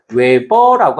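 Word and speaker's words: 웨버: 그다음에 단위로는 어떻게 쓰냐면 단위로는 WB라고 해서 외버라고 합니다.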